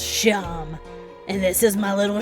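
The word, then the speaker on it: Seam: The name's Sham. Yep, pronounced Sham.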